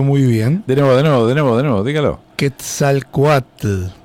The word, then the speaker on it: Quetzalcóatl: Hay que pronunciarlo muy bien. De nuevo, dígalo. Quetzalcóatl. Quetzalcóatl, Dios del bien, hombre y sacerdote y símbolo de la inteligencia del pueblo.